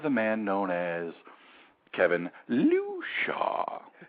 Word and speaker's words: Lucia: There's a whole lot of different ways to say it, but I understand the proper pronunciation is Lucia.